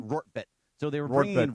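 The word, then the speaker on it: Rortvedt: It's Rorvart, right? Yeah, Rorvart. How do you say his name? Rortvet.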